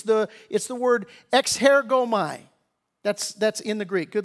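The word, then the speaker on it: ἐξέρχομαι: That word come out, in the Greek, it's the word exhergomai. That's in the Greek. Good luck spelling it. I'm good enough I can even pronounce it. Exhergomai is the right pronunciation of it.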